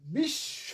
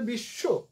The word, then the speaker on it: বিশ্ব: ফলে বিশ্ব, আমরা বলি বিশ্ব, বিশ্ব অ করে ফেলি, আসলে বিশ্ব শব্দটার উচ্চারণ হবে বিশ্ব, বিশ্ববিদ্যালয়, বিশ্ব ওয়ার্ল্ড, যেটা বিশ্ব।